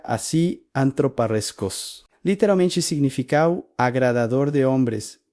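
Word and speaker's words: ἀνθρωπάρεσκος: La palabra es se pronuncia así, antroparreskos.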